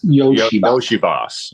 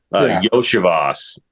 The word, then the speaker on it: Iosivas: Yoshibas. Okay. I always want to pronounce the EO, like as in like, because it's IO. Yoshivas, Cincy, wide receiver.